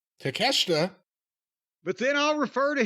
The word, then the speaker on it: Takeshita: Chris Jericho versus our boy, I'll just say it once, take a shit. Takeshita.